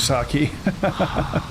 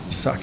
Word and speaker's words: sake: I'm out of saki. Sake. I need to get used to saying it correctly.